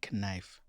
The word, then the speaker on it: knife: Knife. Knife? Like knife? Knife. No, I'm just thinking about, I've never really thought that the K in knife was silent. It is silent.